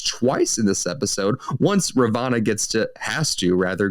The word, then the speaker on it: Ravonna: turns out that uh ravenna is that how i say her name ravana yeah ravana excuse me was her assigned agent